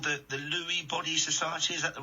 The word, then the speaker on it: Lewy Body Society: Something called the Lewy Body Society. Is that the right way to pronounce it?